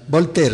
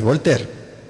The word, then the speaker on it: Voltaire: ahí en algún diccionario volter se escribe voltaire volter volter decía que él no creía